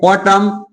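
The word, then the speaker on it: autumn: यानी कि यदि किसी वर्ड में एम के बाद एन आए, तो वहां पे एन का उच्चारण नहीं किया जाता है। तो समझिए जैसे क्या आ गया, ऑटम, कंडम, कॉलम, हिम।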